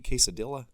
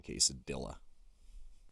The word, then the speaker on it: quesadilla: You want that soapy quesadilla? It'll clean you right up. It's one of my pet peeves. Everybody should know you don't pronounce the L's in quesadilla.